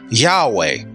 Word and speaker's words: Yahweh: And this either can be pronounced as Jehovah or Yahweh, which we get Jehovah now.